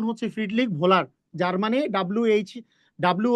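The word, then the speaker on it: Friedrich Wöhler: দেখো আমি লিখতেছি ওহলার কিন্তু এনার এনার সঠিক উচ্চারণ হচ্ছে ফ্রিডলিক ভোলার যার মানে ডব্লিউ এইচ ডব্লিউ ও এইচ এ ভো হয় ফ্রিডলিক ভোলার যদিও কোন কোন বইয়ে পুহলার লেখা আছে কিন্তু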